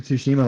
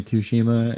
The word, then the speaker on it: Tsushima: I say I'm very American because I say Tsushima and it's actually pronounced Tsushima. I'm just there's a T in it, so like my dumb American brain just wants to fucking pronounce that T.